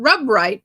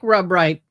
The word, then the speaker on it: Rubright: Way it was spelled was Rubright, but pronounced not Rubright, but Rubright. He went by Dick Rubright. Really, it was Rubright.